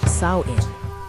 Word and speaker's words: Samhain: On the night of October 31st, they celebrated Sam, pronounced Sain.